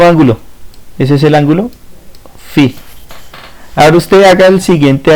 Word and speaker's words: phi: Esto se lee así, ángulo phi, ¿sí? Se escribe PHI pero se lee phi, ¿sí?